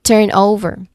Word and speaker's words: turnover: That's turn over the first syllable turn. That's where we stressed these um this where the stress of the word is.